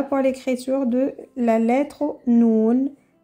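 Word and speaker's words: نون: nommez cette lettre s'appelle noun ou noun mais plus celle-là noun mais dans dans les mots ça se prononce comme le N genre n on dit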